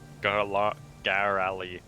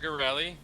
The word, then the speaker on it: Garelli: We're here seeking information from Sister Garali. Fuck. Sister Garelli, say it right.